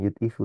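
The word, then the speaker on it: يُضْعِفُ: yudifu betul betul yudifu Bukan yadfu gitu bacanya yudifu Ya kalau yadafu dia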